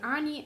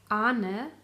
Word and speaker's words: Arne: Moon Night, designed by Arnie and Carlos, or how you really should pronounce them, Arne and Carlos.